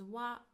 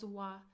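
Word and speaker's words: は: It is pronounced as wa wa but we write it as hiragana ha ha. So when we use it as a particle we pronounce it as wa.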